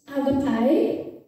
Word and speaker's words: agape: And also, the meaning of agape, this great, it's a Greek word pronounced agape.